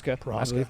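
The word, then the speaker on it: Procházka: Prohaska.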